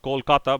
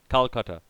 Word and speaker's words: Kolkata: Actually, it's pronounced Kolkata, but Calcutta.